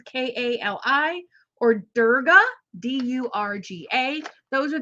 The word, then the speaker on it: Kali: Mary, Mother Mary, Isis, Kali, which is Kali, or Durga, Durga.